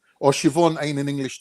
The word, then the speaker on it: Siobhan: not oh my god in irish it is pronounced siobhan right and the reason